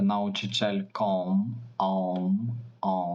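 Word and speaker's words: nauczycielką: сестра є вчителькою пам'ятаєте научичелькоммм тому що А з хвостиком в кінці слова читається як будийський звук ом ом научичельком Як і мама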